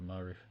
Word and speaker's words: Maru: It's like Sharu, but Maru.